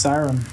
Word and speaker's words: Kyron: in the face all right cd master uh kyron griffith 5-0 in the tuesday night marathon has got uh uh it's got a tough opponent coming in the next round pronounced siren so i'm gonna take a five-minute break here